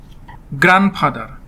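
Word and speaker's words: grandfather: বাংলা অর্থ হচ্ছে দাদি গ্র্যান্ডফাদার জি আর এই এন ডি এফ এ টি এইচ ই আর গ্র্যান্ডফাদার গ্র্যান্ডফাদার হবে না হবে গ্র্যান্ডফাদার ডি টা এখানে সাইলেন্ট থাকবে গ্র্যান্ডফাদার শব্দের বাংলা অর্থ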